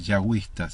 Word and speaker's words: yahwista: Es utilizado por una de las fuentes documentales de Génesis, entre paréntesis J, refiriéndose a fuentes yahwistas, ¿sí? Yahwista. La J se pronuncia como Y en inglés.